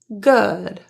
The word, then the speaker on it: good: So instead of a typical rounded ooh sound that you might expect with double o words, this is an exception and it is uh not ooh uh good.